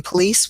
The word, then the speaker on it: police: In police, we have it in the beginning.